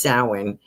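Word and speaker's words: Samhain: They're pronouncing it sin, but they're spelling it a little different.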